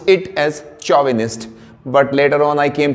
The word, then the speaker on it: chauvinist: is chauvinist c-h-a-u-v-i-n-i-s-t so we speak it as chauvinist when I was younger I used to pronounce it pronounce it as chauvinist but later on I came to know it